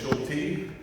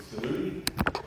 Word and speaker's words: Schulte: It is Schulty. Uh, many people when they see that name for the first time, they say Salude uh or or like the dog. I have so many different kinds of mispronunciations of that name. Uh, but I'll not say anymore so that way you don't get confused. Uh, it's Schulty. Pretty straightforward. Like Schulty the Mummy.